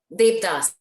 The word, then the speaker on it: Devdas: Yeah, you pronounce it Devdas.